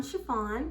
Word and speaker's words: Sha-Phawn: Hi guys, I'm Sha-Phawn, pronounced like the material, and welcome to my channel.